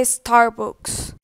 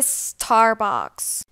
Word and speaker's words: Starbucks: sonrisa si me saco no se dice estar box se dice starbucks no se dice en